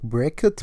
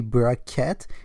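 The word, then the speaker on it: bra-ket: So, of course, you can pronounce this like Braket, but it's actually Braket.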